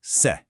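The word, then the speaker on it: 色: So, this character right here is eido, pronounced se, and it literally just means color.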